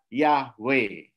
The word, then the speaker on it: Yahweh: Sehingga yud he vav he itu dibacanya IAB itu dibaca Yahweh.